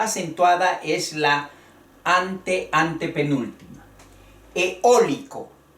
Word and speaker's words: eólico: Eólico. Es en el sonido de la voz que se escucha el acento. Eólico. El acento va en la O. Eólico. La vocal fuerte E, la vocal fuerte O, eólico.